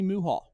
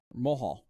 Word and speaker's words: Mohall: John Leclerc and Tommy Muhall. Mohall. I don't know why I said Muhall. Like, that's not how it's spelled.